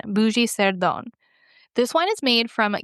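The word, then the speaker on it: Bugey-Cerdon: It is called a bougie sone. I think that's how you say it. It's how I want to say it. I want to say bougie. It's B U G E Y- C E R D O N. Bougie Seron.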